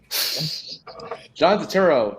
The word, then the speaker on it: Turturro: There is an R. It is Turturro.